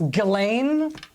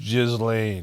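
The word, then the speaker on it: Ghislaine: Or you maybe want to pop in to ask Galileain? It's pronounced Jiz Lane and you know it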